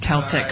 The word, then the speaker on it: Celtic: It's actually pronounced Celtic for all those sports fans out there.